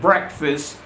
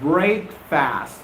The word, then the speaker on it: breakfast: pronunciation of this word it's not break fast it's breakfast breakfast breakfast have you had a